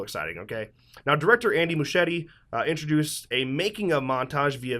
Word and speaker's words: Muschietti: Now, director Andy Muschietti introduced a making-of montage via video message.